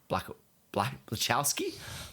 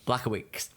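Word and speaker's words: Błachowicz: Blachowski? Blachowicz. Oh, nice. Jesus. I don't know how to pronounce his name.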